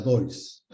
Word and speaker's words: Deutz: Esta cámara es la DOIS. Cámara DOIS. Se escribe DEUTZ. D-E-U-T-Z.